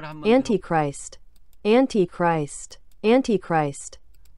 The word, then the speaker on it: Antichrist: 그래서 발음을 한번 Antichrist, Antichrist, Antichrist. 우리는 보통 이제 안티 하는데 미국 사람들은 엔티크라이스트 이렇게 발음을 하네요.